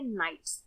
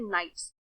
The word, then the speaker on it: knights: जिसको कहा जाता है नाइट्स। इसकी स्पेलिंग होती है KNIGHTS। इसमें K साइलेंट होता है इसलिए इसका प्रोनाउंसिएशन होता है नाइट्स।